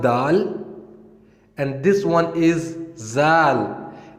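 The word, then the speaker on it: ذال: The previous letter was dal, and this one is zal. And if we compare it with English letter, we can say that it sounds like Z. And in Arabic, we pronounce it zal, zal, zal, zal, zal, zal.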